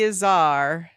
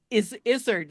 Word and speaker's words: Izzard: Eddie Izzard as one of the Fates. Oh, Izzard. I pronounce it Izzard.